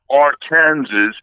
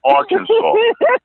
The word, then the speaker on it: Arkansas: And look, they don't even, I don't know, is it just me or why is it they spelling it Arkansas and pronouncing it Arkansas?